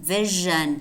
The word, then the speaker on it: vision: Notice how the spelling is S-S-I-O-N as compared to vision, vision, spelled S-I-O-N, only one S, and that's normally pronounced Z.